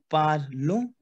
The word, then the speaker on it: parlons: Nous parlons. Why? Because ON sound is on.